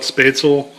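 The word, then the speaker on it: Spätzle: of spatula now um some people call it spatel uh spet is the way I know to pronounce it um it's basically a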